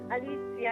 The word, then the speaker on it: Alicia: So, Alicia, you were 5 years old, and your name at the time was Alicia? Is that Did I pronounce that right? At that time was Alicia and still they get that was my name.